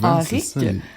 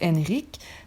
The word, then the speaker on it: Henrik: Puis à la base, ça se prononce Henrik. Donc, mais nous, on le prononce vraiment comme à la française. Donc, Henri avec un K, Henrique.